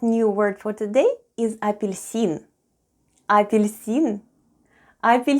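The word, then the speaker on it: апельсин: russian for an orange the first sound is ah then we have po then goes ye then we have which is followed by soft sign and soft sign makes the preceding letter sound soft so we have le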